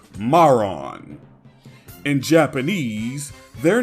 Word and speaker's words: Marron: The dub pronounces both of them as Marin, despite the slight difference in spelling. They actually follow Kuririn's naming scheme based around chestnuts, and they're named after the French word marron.